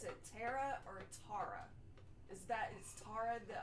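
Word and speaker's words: Terra: So T-E-R-R-A. So like that, yeah, T-E-R-R-A. Which is Tara.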